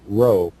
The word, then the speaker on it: rho: In Greek, it represents the letter row, as in row, row, row your boat, mind.